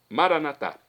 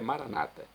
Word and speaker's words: Maranatá: Pronúncia católica. A pronúncia dos nossos irmãos, das comunidades evangélicas ou protestantes normalmente é maranata, mas não importa.